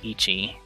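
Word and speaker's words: 一: hiragana attached it will actually change the the pronunciation so for for example one is ichi but if uh if you put the uh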